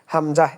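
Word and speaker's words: همزة: আপনাকে মনে রাখতে হবে এই হামজার উচ্চারণ কিন্তু আলিফের মতই আলিফ আর হামজার মধ্যে কিন্তু কোন পার্থক্য নাই জাস্ট লেখার সময় হামজাটা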